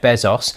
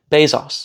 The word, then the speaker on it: Bezos: Founded by the Amazon founder, Jeff Bezos.